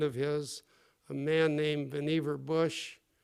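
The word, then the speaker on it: Vannevar: his a man named vver Bush some people like to pronounce that vavar bush but the correct pronunciation or at least Mr uh Dr uh Bush's pronunciation was vver uh vver Bush uh was uh a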